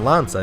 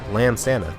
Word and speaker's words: Lansana: Or it's not Lanza, it's Lansana.